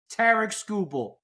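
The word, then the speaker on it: Tarik Skubal: out for mispronouncing Tariq Skubal, here it is, Tarek Skubal. Okay, you happy? I pronounced it right.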